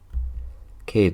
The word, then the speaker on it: Kade: His name rhymes with laid." Cade laughed as we got outside and kissed me.